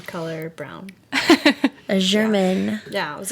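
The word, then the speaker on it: Braun: is here with me is that how you say it brown or brown yeah it's brown oh interesting I know it's it's this silly way that I always have to spell out no b-r-a-u-n German color brown a German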